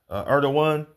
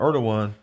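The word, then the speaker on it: Erdoğan: of Turkey is uh tayip erdoan that's how they pronounce his name if i't mistaken so president erdan you know right when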